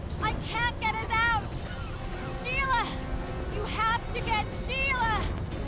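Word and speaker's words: Ciri: It is pronounced Sheila. There's a little accent over the I. It's not S-I-L-A. It's like an S-I accented I-L-A.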